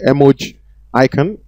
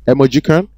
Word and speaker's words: emojicon: You can say emoji icon or you can say emojicon.